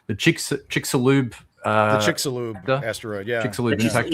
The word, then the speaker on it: Chicxulub: I always get this pronunciation wrong. The Chicxulub.